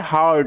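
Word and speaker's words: heard: extra কোন letter থাকে ই এ আর এর উচ্চারণটা আর এর মত হয় ওই কারণে এটার উচ্চারণ হচ্ছে হার্ড হার্ড কথার অর্থ হচ্ছে শোনাতে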